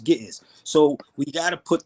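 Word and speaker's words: Ge'ez: It's pronounced Gittiz.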